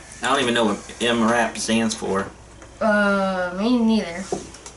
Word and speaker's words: MRAP: ambush so basically it's a yeah it is pronounced mrap so that's oh wow that's what they're designed